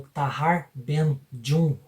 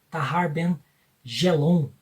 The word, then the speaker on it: Tahar Ben Jelloun: o tahar Ben jun gente escreve tarben gelon mas eu entrei no site do forvo que é um site em que tem todas as pronúncias dos nomes na sua própria linguagem na sua própria língua lá diz que se fala tahar Ben J esse poeta aqui ele